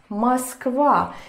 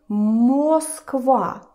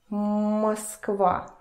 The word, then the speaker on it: Москва: I don't say it like that because here comes the first rule of the vowel reduction in Russian. And the first rule is that O, Russian O, when it is unstressed, where there is no stress and no accent going on it, it turns to the sound E.